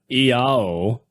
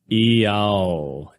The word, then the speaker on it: IAO: The powerful mantra, Iao, summarizes the magical power of the triangle of the principal elements. I, pronounced E, symbolizes igneous, or fire.